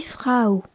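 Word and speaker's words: Frau: le gâteau l'article de Fra et dit di frou f r a u dirao est un nom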